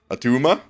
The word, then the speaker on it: Attuma: one more time I find it pretty fun atuma atuma Tuma there you go I threw in